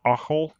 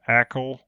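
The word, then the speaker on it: Achel: breweries is uh called occul a c h e l echo i guess you would pronounce it in english and they have a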